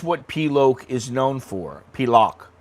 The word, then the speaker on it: Pilok: Pilock. Sorry, I always say it wrong, but it's Pilock. That's what it's known for.